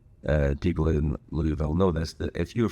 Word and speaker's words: Louisville: Mike in Louisville, Kentucky, or to pronounce it correctly, people in Louisville know this, that if you're from Louisville, you don't pronounce it Louisville.